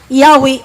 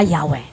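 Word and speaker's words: Yahweh: but bisag maghisgot writing it was already pronounced Yahwe originally that's why dito sa bowel pointings ang pagbutang na lang sa bowel pointings pero ang sound na yahwe okay so magakong gamiton ang yawe or ang adonay tubag yahwe kay maoy iyahang sound and pronunciation of the hebrew tetraagramon angar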